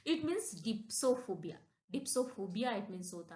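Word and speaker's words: dipsophobia: डिप्सोफोबिया डिप्सोफोबिया this is अ वेरीेंट word डिप्सोफीबिया मतलब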